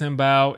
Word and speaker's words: Mbow: But I'm thinking it's probably got to be Marcus Bao, or I think it's Bo, just pronounced Bo.